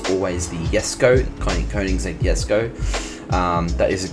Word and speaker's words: Jesko: As we know, it's always the Jesko, Koenigsegg Jesko. That is a correct pronunciation.